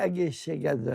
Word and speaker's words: Egészségedre: In Hungarian, it would be "Egészségedre." Egészségedre. I'll never learn to pronounce that.